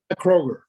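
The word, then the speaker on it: Kroeger: again oh hannah a-k-n-n-a and kroger k-r-o-e-g-e-r like the grocery store kroger that's that's correct yes yes kroger this is also the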